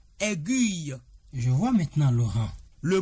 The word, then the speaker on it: aiguille: Je renchérirai sur la substantivation pour dire que le mot A i G u I de L e se lit aiguille et non aiguille.